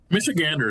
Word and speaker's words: Michigander: is it a Michigan Misha Ander how do you how do you say the the Michigan natives michigander is preferred I think michigander there you go I was pretty close um so that's happening